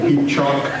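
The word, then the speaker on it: pecha kucha: No, it's peachock. It's 3 syllables, peachock.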